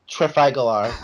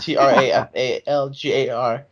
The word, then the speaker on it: Trafalgar: Battle of Trafagalar, Trafalgar. Hang on, British how do you Admiral pronounce Say it?